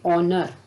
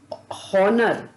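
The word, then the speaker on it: honour: शब्द हैं जैसे कि ऑनर एच ओ एन ओ यू आ शब्द में एच यानी कि पहला शब्द साइलेंट है इसलिए हम इसको हनर ना बोल कर के हम इस शब्द को ऑनर बोलेंगे इसी तरह हम अक्सर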